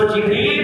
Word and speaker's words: جبریل: بھی اور میکائیل بھی۔ اسی طرح جبرائیل یہ تلفظ جو ہے حدیث میں آیا ہے، مسلم شریف باب الدعا کے اندر تمیم بن قیس کی لغت میں جبرائیل، تو جبریل بھی کہہ سکتے ہیں، جبرائیل بھی کہہ سکتے ہیں، دونوں تلفظ کے ساتھ پڑھا جا سکتا ہے۔ اور اصلی نام ان